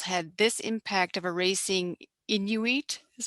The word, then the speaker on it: Inuit: these missionary schools had this impact of erasing inuit is how you pronounce it culture was he supportive of inuit